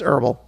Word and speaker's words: herbal: Some people pronounce the letter H in that word. They should know that the H doesn't feel bad. Herbal. People don't think that the H feels bad because you didn't pronounce it. It's herbal. That's all there is to it.